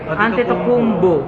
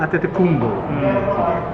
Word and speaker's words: Antetokounmpo: Paano ba pronounce last name niya? Antetokounmpo. Antetokounmpo.